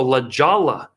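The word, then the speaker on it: La Jolla: Provo I go to Colorado Springs San Diego La Jala is how it's pronounced very rich area then I'm in Des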